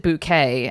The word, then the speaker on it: Bucket: Well, we have Keeping Up Appearances, of course, which is a British sitcom about a posh lady whose name is Hyacinth Bucket, but she pronounces it bouquet and is very worried about everyone thinking she's posh.